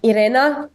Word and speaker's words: Irena: pronounce it is it Arena vow Arena orena vow I think it's arena for English and and I would say Irena but again I mean